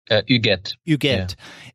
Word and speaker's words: Huguette: And how do you pronounce her name? Huguette? Huguette. Yeah. And their son, Nicholas.